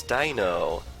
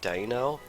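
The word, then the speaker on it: Deino: difficulty pronouncing this thing I like to try and pronounce it Dino because this evolutionary line is puns upon numbers 1 2 and 3 in German lacking sight it's unaware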